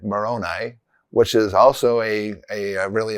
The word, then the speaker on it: Moroni: of the Comoros Islands is spelled Moroni, Moroni, but we would say it Moroni, which is also a really important person in the Book of Mormon.